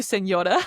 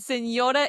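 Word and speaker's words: señor: Seenor and senor is spelled with the n that we just spoke about.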